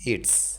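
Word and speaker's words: Yeats: ইটস। অনেকে এস উচ্চারণ করে না, আই লাভ ইনিসফ্রিও বলে।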